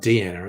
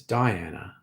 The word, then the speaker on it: Diana: That's not Deanna, it's Diana.